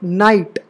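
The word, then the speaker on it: knight: वैसे ही यहां देखो के एन आई जी एच टी तो एन आया तो के साइलेंट होगा ना कि एन तो नाइट ठीक है के एन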